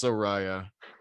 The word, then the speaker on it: Soraya: quick that was though, is it actually pronounced Soraya? it's Soraya. It's spelled Soraya.